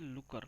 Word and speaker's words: Looker: This is a looker, not the locker. I always pronounce it wrong.